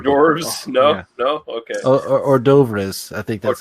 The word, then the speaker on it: hors d'oeuvres: Hors d'oeuvres. I think that's how we pronounce it.